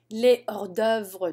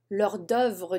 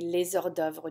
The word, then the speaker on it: les hors-d'œuvre: tartare means raw, uncooked, les hors-d'œuvre du jour, la soupe du jour, l'hors-d'œuvre du jour. It should be les hors-d'œuvre du jour, by the way. Les hors-d'œuvre. There should be a liaison here.